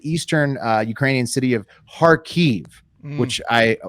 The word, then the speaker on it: Kharkiv: of harkive which I after watching videos found out as a silent k so oh good thank you I'm going to be visiting there later and I was going to that up okay good heart five silent k Park Eve it's spelled car key numerals you literally just don't say the K uh and so it's